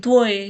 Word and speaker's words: твой: ट्वॉय (t-v-o-y) ट्वॉय, 'आपका'।